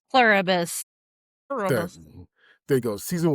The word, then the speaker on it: Pluribus: Uberus. Pluribus.